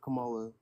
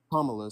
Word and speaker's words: Kamala: would have been with Kamala. But like, That's not how you say her name. But why do you believe that? Kamala, sorry, I apologize.